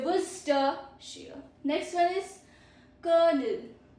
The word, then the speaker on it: Worcestershire: Pro tip. Silent letters Chester and Shire. So these are silent letters. This CEST and SHIRE are silent letter. So we say Worcestershire.